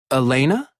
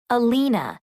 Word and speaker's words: Alina: name it's Alina Elena no Alina a l i n a oh Alina it's nice